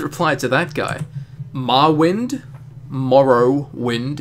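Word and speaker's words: Morrowind: to that guy MWI Morrow wind is how it's pronounced nice vid like always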